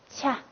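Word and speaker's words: ཆ: 好，那么它的那个发音方法呢？送气清塞音。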